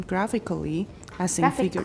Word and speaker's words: graphically: can then represent them graphically don't pronounce the last a graphically and that's true for almost all a-l-l-y adverbs a-l-l-yd H verifying graphically